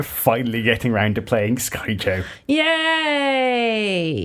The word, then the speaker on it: Skyjo: in the blog, showing us how to play it and confirming it's pronounced Skyjo.